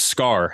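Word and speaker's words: Skaar: like part hulk and his name is scar and i think that's how it's pronounced s-k-a-a-r anyway all that to say i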